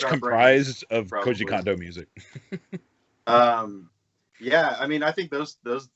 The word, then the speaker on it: Koji Kondo: And Koji Kondo. Did I say that correctly? Yeah, you got that right.